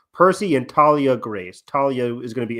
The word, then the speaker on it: Thalia: a little bit um Thalia a no actually per Walker says Thalia because it's th t h a l i a growing up I always say Talia I I thought the